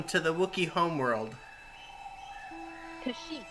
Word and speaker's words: Kashyyyk: space motors welcome to the wookie home world kashyyyk right that is the official pronunciation just remember that okay get ready for